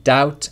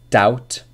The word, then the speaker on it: doubt: after be in subtle but the B sound is not pronounced in any of these words listen again debt doubt subtle debt doubt subtle no B sound whatsoever a lot of my students say depth doubt subtly as I understand why because it's in the writing but the spelling the pronunciation is just without the buh sound i Hardeep hope you